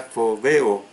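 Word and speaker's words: φοβέω: Se escribe con P inicial, con H intercalada y se pronuncia fobeo, que es de la palabra phobos, que es escrita con P inicial, H intercalada, y por eso la pronunciación es phobos.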